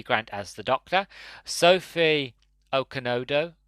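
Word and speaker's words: Okonedo: Grant as the Doctor, Sophie Okonodo, I think that's how you pronounce the name, not Okadodo, whatever I said earlier, as Alison Cheney, Derek Jacobi as the Master, which absolutely perfect casting.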